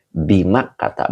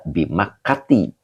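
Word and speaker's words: بمكة: Nah, ini dibacanya bimak kata. Binya huruf jar, mak kata majrur yang dijerkan dengan fathah karena isim ghairu munsharif. Jadi tidak boleh dibaca bimakati ya.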